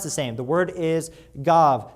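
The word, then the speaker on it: גב: is spelled it means the same and it's pronounced the same the word is gav spelled giml VAV it means back as in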